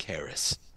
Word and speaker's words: Haracz: um but yeah and my last name is spelled just like it sounds r-a-c-z Harris thank you chef